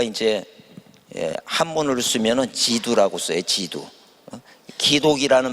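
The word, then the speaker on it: 基督: 어 그리스도를 우리가 이제 한문으로 쓰면은 라고 써요 지두 독이라는 말 기독교라 그러죠 독이라는 말을 우리는 기독교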